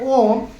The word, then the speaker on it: ओम: उन तीन वर्णों से मिलकर बना हुआ है? आ धन उ धन म आ धन उ धन म इन तीनों के उच्चारण से ओम और ओम के उच्चारण